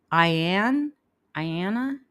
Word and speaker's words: Ayanna: I Is it Ayanna? and probably butchered that and I apologize in advance. It's a pretty name though, but did I say it right? Good. Good on me.